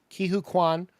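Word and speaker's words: Ke Huy Quan: say his name wrong, but Ki say it Ki for Hu him. Kwan. Ki Hu Kwan, who just won an Oscar for what we did for Everything Everywhere All at Once.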